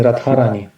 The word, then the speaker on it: Radharani: That would definitely, or Shrimati, like Radharani, Radharani, and in the Russian language, Dha turns into Tha, and devotees say Radharani.